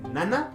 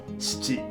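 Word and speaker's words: 七: Số 7 là "nana" và "shichi".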